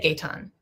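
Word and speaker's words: Gaëtan: I listen to it and they said Gayton.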